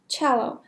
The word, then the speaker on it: cello: تلفظش میکنن cello. سی اولش چه تلفظ میشه؟ cello.